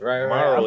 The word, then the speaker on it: MVRRO: So I'm like, Morrow, like tomorrow.